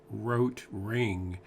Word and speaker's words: Rotring: I just realized that I think you're supposed to pronounce it rot ring and therefore that means in German red ring but also in English then it becomes a play on writing and now back to